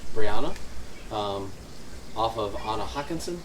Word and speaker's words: Brianna: same spelled the same ours is pronounced Swedish Brianna um off of Anna